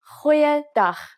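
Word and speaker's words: Goeiedag: let's try that again try pronouncing it from the back of your throat hoyada so what has actually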